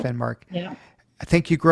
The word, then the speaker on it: Finnmark: Is that how you pronounce it? Yeah, that's right. Finnmark.